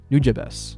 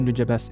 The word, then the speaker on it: Nujabes: You might have heard that Samurai Champloo came about because Watanabe was a fan of the late and legendary Nujabes.